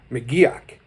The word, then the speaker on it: McGuirk: was John McGuirk and I had to look how to pronounce that name as well fortunately there was a documentary about his life and they said his name was Maggie och so there it is he played guitar for